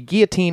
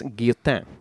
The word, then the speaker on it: Guillotin: But the guillotine itself has its origins, again, in the bloody days of the French Revolution, and so that's where we're going to go now.